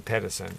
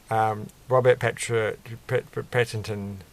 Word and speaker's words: Pattinson: It's one of those names that you're like, you want to just say Patterson or something, and you're like, it's not actually Patterson, it's Patton, and he's probably like people